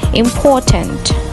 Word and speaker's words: important: In British English, if letter R appears after a vowel sound, it will be silent. So, the correct pronunciation of these words will be teacher, adventure, and important. Here comes another word which